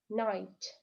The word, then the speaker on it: knight: Knight, knight. Рыцарь. Буква К звука здесь не дает, то есть K is silent.